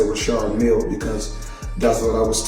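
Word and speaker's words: Richard Mille: Now, I must let everybody know cuz everybody pronounce it different. Some say Richard Millie. Myself, I say Rashard Mill because that's what I was told in 2012 when I first purchased the watch.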